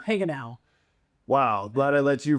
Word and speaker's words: Hagenau: How do you pronounce your last name? Heal.